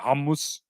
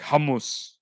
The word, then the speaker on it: hummus: I think how um I think in Arabic you pronounce it hamus um hummus is like the angle way to said humus like okay thing what